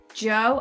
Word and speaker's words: Jeaux: with god and it's super exciting i've got joe am i pronouncing it right yay okay so tell us